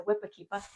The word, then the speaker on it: whipakeepa: You have to say it like that because New England it's a whippa.